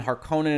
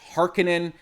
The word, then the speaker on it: Harkonnen: And yes, I know I'm going to pronounce this wrong. It's been Harkonnen in my head forever. The movie pronounces it Harkonnen. It might come out both ways as I talk about it in this video.